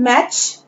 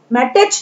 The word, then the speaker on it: match: Then मैच, MATCH, यहाँ पर T silent है, मैटेच नहीं पढ़ेंगे, हम इसे पढ़ेंगे मैच।